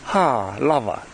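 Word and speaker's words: Halawa: And this is why here in this valley it is called, the way we pronounce it back those days with our kupuna is ha lava, which means sufficient, because they had everything that they needed.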